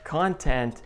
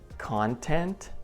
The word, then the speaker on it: content: And when we stress the second part, record, content, we get adjectives and verbs, which is pretty cool.